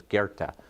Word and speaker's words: Goethe: learned about a German philosopher whose name is Goethe it's not intuitive it's how it's pronounced and how it's spelled it's goe t-h-e